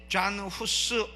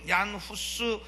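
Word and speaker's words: Jan Hus: 너의 생명은 살려주겠다 그런데 잔 후스 요한 허스 얀후스 뭐 잔 허스 여러 가지로 발음되는이 사람이 딱 나타나니까 신성로마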